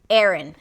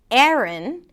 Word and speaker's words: Aaron: A boy's name, Aaron. Aaron and a girl's name, Aaron. Aaron. Yes, they're pronounced the same. The first syllable is a A. And even something closer to an E sound.